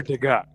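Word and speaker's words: Degas: So this guy Edgar DGA d e g- a s actually s is silent. So they were featuring DGA's whatever works.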